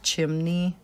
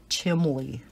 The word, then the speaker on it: chimney: And I don't know if you guys have ever heard anybody pronounce chimney different, but both Bob and my ex-husband pronounced it chimley, like there's an L in it.